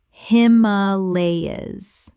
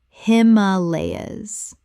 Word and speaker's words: Himalayas: Himalayas. Correct pronunciation. Himalayas. 4 syllables with the stress on the second.